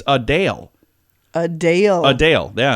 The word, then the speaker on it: Adele: been saying wrong like Adele her name is not Adele it's a Dale a Dale a Dale